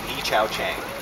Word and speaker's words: Yih-Chau Chang: It's Yih-Chau Chang. And spell that for me, please.